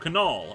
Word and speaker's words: Knoll: Fun fact, you pronounced the K in my last name. So Knoll.